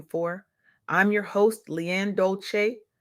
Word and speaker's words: Dolce: I'm your host Leanne Dolce, pronounced dol-say, like sweet softness whispered in French.